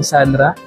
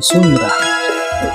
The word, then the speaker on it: Sunra: lang ang sukat Okay brand ng sura Sandra Actually Sandra pala ang pronunciation non mga kgs ang kanyang